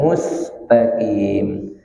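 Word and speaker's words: مستقيم: Mus bukan mus. Kalau mus berubah hurufnya. Mundurkan. Mustaqim. Taqim pakai qaf.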